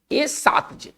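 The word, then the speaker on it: ersatz: है, इसको पढ़ेंगे कैसे, आर साइलेंट रहेगा, भवेल के बाद आर नहीं होता है, ए साज, ए सातज, ए सातज, कैसे पढ़ेंगे, ए सातज, ठीक है ना, आर का उच्चारण नहीं होगा।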